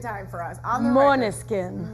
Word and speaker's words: Måneskin: On the Måneskin. Måneskin.